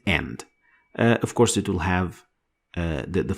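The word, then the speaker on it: ح: but it comes so close to the sound of ha in English. But it is less deeper in your throat. So you don't say ha, but you say ha.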